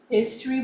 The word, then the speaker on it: Hystery: Besides her duties at Level Best Books, she hosts the podcast Sunday Teas with V at the History Chronicles, but it's Hystery. History, but it's spelled Hystery, History Chronicles.